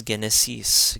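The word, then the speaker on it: ⲅⲉⲛⲉⲥⲓⲥ: Now we have the gamma being pronounced as a hard g. So this is genesis, genesis.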